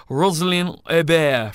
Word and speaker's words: Roselyne Hébert: And joining me in my virtual journey around Quebec is, and I'm going to try and pronounce this right, Roselyne Hébert from Tourism Quebec. Was that remotely close? It was perfect.